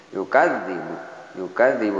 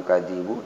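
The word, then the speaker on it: يُكَذِّبُ: Yukadzibu ada tasjid, kemudian ditahan, bukan yukadzibu tapi yukadzibu.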